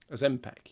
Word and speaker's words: Ozempic: Ozempic, is that how you pronounce it? Yeah. I don't know. It was just a... Ozempic, yeah, that's it.